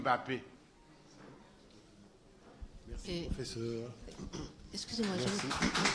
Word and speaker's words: Mbappé: Sauf peut-être Mbappé. Mais parfois, ils disent M-N Mbappé. Guylaine M-N. Ils prononcent d'abord le M. Parce qu'ils ne peuvent pas coller le M et le P. Ils ne peuvent pas coller ça. Ça n'existe pas dans leur son.